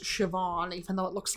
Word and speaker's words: Siobhan: okay so now I know this name is pronounced sioban even though it looks like Coban okay sioban